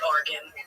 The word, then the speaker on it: Oregon: Can you imagine if I said, pick me up from Argan Avenue? People would be like, what the hell? It's Argan.